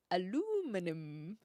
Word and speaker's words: aluminum: Yeah, so I would say aluminium. And I think that's British English, but now I'm getting confused. Yeah, because the Americans say aluminum. It's just different emphasis.